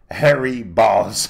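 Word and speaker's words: Harry Bōlz: suédois qui fait que quand tu le prononces, ça sonne Harry comme cheveux ou poils, Balls comme couille. Ça s'écrit Harry, B-O avec une espèce d'apostrophe au-dessus, L-Z, mais ça se prononce Harry Balls.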